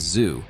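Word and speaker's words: Tszyu: after Sebastian won against Tim tuu pronounced as zoo in his previous fight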